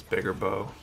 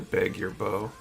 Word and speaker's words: Beguir-Beu: Lewis bigger boo that Chris says it's bigger bow Burger boy is the current pronunciation it's called the beg your bow to say I haven't